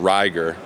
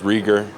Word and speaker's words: Reiger: What's your preferred pronunciation? It's Ryer. Everyone says RieR.